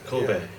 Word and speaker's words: Colbert: And so now, do I address you as Colbert, or how do I pronounce? Colbert. Ah, Colbert. Colbert.